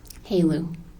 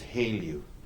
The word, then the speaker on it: HALEU: How do you say H-E-L-E-U? Haleu. Haleu. What is, in your line of work, what is Haleu?